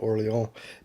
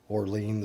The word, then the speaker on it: Orléans: I think Orléans is more of the proper French pronunciation, and Orleans, like New Orleans or something, is how we say it here in the US.